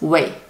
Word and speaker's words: 味: So this whole character pronounced wei, same as this part, wei.